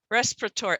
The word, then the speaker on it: respiratory: makes sense respiratory oh what's the weird thing in that syllable i'm not even saying the eye respiratory protore yeah and what what sound is this a making it's making a sound the schwa sound so connecting symbol to